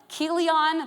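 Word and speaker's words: Chilion: The names of the two sons were Melon and Keelion. That's how you say his name. Just like a K at the beginning.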